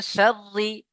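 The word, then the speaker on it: شرِّ: ওয়ামি সাররিল শাররিল কেন গাসাকি পড়ছেন? লাম তো নেই। রি হ্যাঁ, শাররি সাররি বলেন, শাররি।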